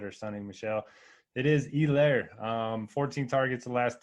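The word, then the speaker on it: Helaire: is Clyde Edwards hair do they just not pronounce the h or is that just a a Monday night broadcasting thing they kept calling him yeah I was like who the hell's elair it's elair man E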